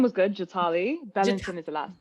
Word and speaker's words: Jatali: Did I pronounce that right? The first name was good, Jatali.